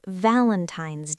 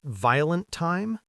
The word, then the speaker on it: Valentine's: We say Valentine's Day. Stress on vow. Valentine's Day. Wait, so it's not violent time?